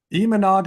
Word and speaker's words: Imanaga: Well, I just wish Gabe's presentation was last week before I drafted Yusei Kikuchi and Shota Amanaga, because now I know the correct pronunciation. Imanaga is going to be an amazing get for the Cubs.